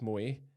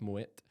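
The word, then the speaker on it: Moët: was in radio Scotland everyone thinks it's Mo but actually it's German it's Moet but anyway it's German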